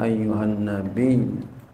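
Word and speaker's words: أيها النبي: atas engkau wahai nabiasdiri dengan tasdid bacanya Ayuh nabi nabi tasdid nabi gitu ayyuhan Nabi Ada tasidnya bi bi gitu Bi ayyuhan nabi nah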